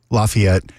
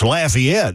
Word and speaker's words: Lafayette: Yeah, that's the pronunciation that is used up here, and it's obviously not the one that would be used in French areas.